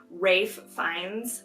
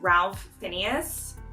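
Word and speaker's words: Ralph Fiennes: of at my parents I pronounced Rafe finds name wrong I said Ralph Phineas I would love to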